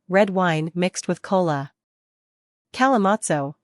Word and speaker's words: Kalimotxo: Kalimotxo, pronounced Kalimotxo, is a popular Spanish drink that originated in the Basque region.